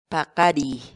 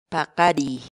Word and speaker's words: paqariy: de videos en la que te enseñamos a pronunciar algunas palabras en quechua. Así que nuestra palabra del día por hoy es Paqari, paqari, paqari, la palabra quechua.